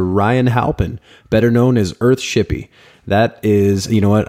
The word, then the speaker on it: Earthshippie: It's EARTHSHIPPIE. And that's .com for Earthshippy's website or, you know, Ryan's website, of course.